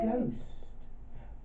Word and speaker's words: ghost: word gost g-o-s-t but he spelt it with a silent age which is the flemish way of spelling and we got a ghost just wind back of